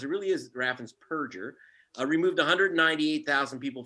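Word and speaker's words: Raffensperger: show um but scumbag uh whose name is raffan's purger not burgers people mispronounced it really is raffins perger uh removed 198 000 people from the voter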